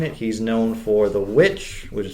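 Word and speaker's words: The VVitch: he's known for the witch which is spelled with two v's instead of a w but just pronounced witch because we're not too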